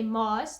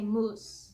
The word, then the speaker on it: moos: certain words so like we say Moss that means bananas and other people I've heard other people say moose moose you know and I'm like no it's Moss like it's Moss but